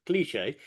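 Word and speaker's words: cliché: It's French, as you can expect with the name, the way that it's pronounced, cliche.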